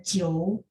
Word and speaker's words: 久: Teman-teman mau pakai 很也可以，很久。Cuman pas baca 久 pinginnya kan seperti ini. Pas bacanya dia ada o ya, j i o u. Jadi j kan bacanya c c c. 久 ada o supaya bagus spellingannya ya.